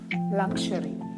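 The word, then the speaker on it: luxury: യു ആർ വൈ ഇത് എങ്ങനെയാ നമ്മൾ പ്രൊനൗൺസ് ചെയ്യാ ലക്ഷറി ലക്ഷറി stress on the first syllable ലക്ഷറി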